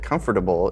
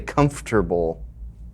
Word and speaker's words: comfortable: people that know that comfortable is a four syllable word most people say comfortable it's like you spelled it comfortable comfortable he has these